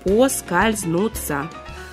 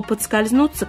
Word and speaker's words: поскользнуться: Многие уже просто и не знают или не помнят, что правильно – именно «поскользнуться». Возможно, что слово «подскользнуться» когда-нибудь вытеснит «поскользнуться». Но сегодня вариант «поскользнуться» пока еще считается единственно правильным.